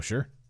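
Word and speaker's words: Sault: all that that would be ideal be great sure so someone was correcting the word from the Ontario that spelled sa ult is pronounced Su Su to how I would have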